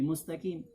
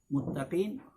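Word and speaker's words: مستقيم: mustaqim jalan yang lurus kalau Muttaqien yang bertakwa Tapi saat Muttaqien orang yang bersandar petunjuk bagi orang yang bersandar dan artinya jauh banget namakan ini satu kekeliruan dalam pengucapan huruf Kaf yang ketika dikurangi sebanyak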